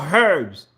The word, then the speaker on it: herbs: regarding the most important herbs or herbs pronounce the h regarding the most important